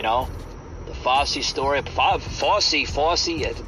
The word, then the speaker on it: Fauci: the FY story FY FY that's how you say his name I can never say